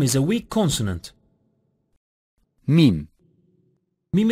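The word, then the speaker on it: ميم: is a weak consonant mim-mim is pronounced by meeting ellipse MIM is a weak consonant nun nun is articulated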